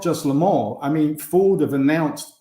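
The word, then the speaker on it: Le Mans: which one now it's Lamar Lamar so you don't pronounce the N or the S um well you don't pronounce the S really if you're speaking with a French accent it's Lamar but you know what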